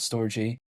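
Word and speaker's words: Storj: like uh for instance storage or should I say store j because it is spelled s tj some people call it storage some people call it store j however even besides that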